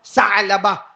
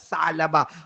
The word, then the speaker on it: ثعلبہ: جوان، نام بولو، ثعلبہ، بیچ میں عین ہے نا، اس لیے میں عین نکال رہا ہوں، ثعلبہ۔ ہاں، انگریزی میں آپ لکھو گے تو وہ عین کا تلفظ نہیں ہوگا، لیکن عربی زبان میں حضرت ثعلبہ۔ اور کتنی عمر، کتنی